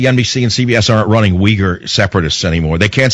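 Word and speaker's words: Uyghur: together no no no not uger we G okay now put the two together wolf 1 two three no not it's weager there are places they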